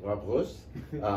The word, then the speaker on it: Roos: And we're with Mr. Roos, or as he pronounced it, Roos, member of the European Parliament from the Netherlands.